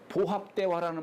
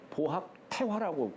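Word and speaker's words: 保合大和: 보합대화라는 말 있죠. 주역에 있어요. 중천교회. 보합 대화라고 하지 않고 보합 태화라고. 그래서 주역은 그렇게 읽어요. 태라고 읽어요. 대라고 읽지 않고.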